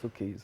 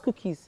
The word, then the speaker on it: Suki: say for me again Suki Suki okay so it's not cookies no just wanted to